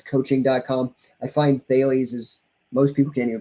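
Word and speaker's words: Thales: dot com i find bailey's is most people can't even pronounce it they think it's like how mike tyson pronounces sales fails uh but that's not it so um i'll help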